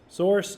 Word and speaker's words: SRC: is the SRC folder does anybody know how to pronounce SRC source source so this is the